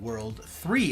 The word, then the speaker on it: WWW: It's written as WWW, and it's phonetically called World 3 in the show.